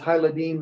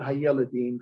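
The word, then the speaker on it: הילדים: Okay, so it's Hayladim, not Hayeladim for young men or whatever.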